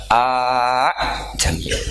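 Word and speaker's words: ءَأَعْجَمِيٌّ: hamzah kedua balungan kali, harusnya bacanya a jamiyun. Tapi ada, ya, tapi ini dua hamzah jejer, normalnya diidghamkan a jamiyun.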